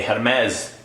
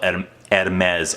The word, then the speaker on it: Hermès: on the shelves of Hermès? I've been kind of corrected on my punctuation. You're not supposed to pronounce the H, but yeah, I was